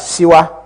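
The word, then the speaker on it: Shuwa: Some were called Gagara, some Ojuku, some Adekunle, some Shua, which we pronounce as Siwa, and some Gowan.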